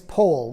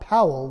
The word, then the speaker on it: Powell: and by the way the correct pronunciation of his name is pole like in whole not powell like an owl baden pole was born